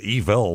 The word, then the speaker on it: Evel: was evil, Evil, But evil, that's just his name. He can't help it. It's just a word, Evil, it could have been, it's a German name, Evel, and we pronounce it evil in America.